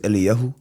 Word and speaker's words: Eliyahu: Yeah, so the Hebrew pronunciation is Eliyahu. Beautiful. But English phonics, Elijah.